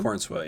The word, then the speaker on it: Corenswet: Is that how you pronounce his name? Corenswet, yeah.